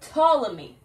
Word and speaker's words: Ptolemy: guy's name was pat ptolemy the p is silent colony created the world's